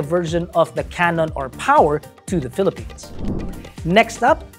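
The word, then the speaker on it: Poer: On another note, something that's a bit familiar but new is the GWM, believe it or not, that's pronounced Power.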